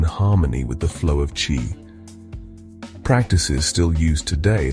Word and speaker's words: qi: In ancient China, this was known as qi, pronounced chi.